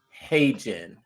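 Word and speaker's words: HeyGen: Now you might say hey Jen, it's spelled H E Y Gen. Hey Jen.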